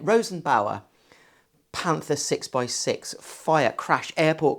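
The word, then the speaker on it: Rosenbauer: Loosely based on the I can never pronounce this the Rosenberg the Rosen bow Rosenberg Ro no it's not got a g in it Rosen Bower Panther 6x6 fire crash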